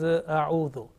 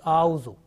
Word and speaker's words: أعوذ: The first one is A'udhu. Sometimes it is pronounced like A'uzu.